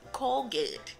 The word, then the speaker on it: Colgate: Es Colgate. Colgate. Yeah, Colgate.